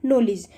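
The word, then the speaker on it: knowledge: First है knife, knock, night या फिर नॉलेज। तो देखो मैंने जितने वर्ड्स बोले हैं इसमें मैंने कहीं पर भी कैसे यहाँ पर स्टार्ट नहीं किया है, तो यहाँ पर के क्या है हमारा, साइलेंट है।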